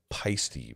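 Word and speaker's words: Paiste: It's actually Peisty, by the way. Peisty, like feisty.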